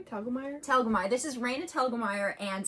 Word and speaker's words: Telgemeier: Telgemeier.